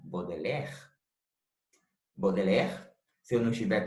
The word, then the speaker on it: Baudelaire: não esteja errado mas sim a pronúncia estiver rima com bodeler bodeler se eu não